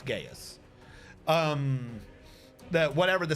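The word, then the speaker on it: geas: that he's stuck on gaius g-e-a-s before someone says i said something else it's i might be pronouncing wrong but it's gaius um that whatever the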